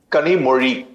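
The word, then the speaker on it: Kanimozhi: सही उच्चारण उनके नाम का क्या है? कनीमोरी कमोड़ी।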